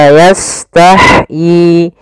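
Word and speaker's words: يستحيي: sempurnakan sinnya Baru lanjut kemudian tah ha di sini memiliki sifat Hames yaitu Apa itu Hames Hames artinya jaranun nafs mengalirnya nafas kita ketika membacanya maka ah ih uh maka la yahyi Kemudian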